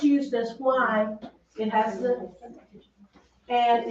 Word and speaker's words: ha: Que, now this H is silent. Que ha Que dado.